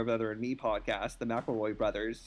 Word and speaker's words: McElroy: and me podcast the mcelroy brothers who spelled their name like it's mickel roy but like a linguistic shift happened with the name either the spelling of the pronunciation like that's reality but